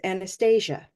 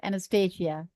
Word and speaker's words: Anastasia: she's right here and she says Anastasia that's the way it is pronounced Anastasia Anastasia well I would say